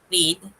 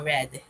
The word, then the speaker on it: read: Exempt lang dito sa read. Kapag past tense siya, mag-iiba lang yung pronunciation. Magiging read instead of read.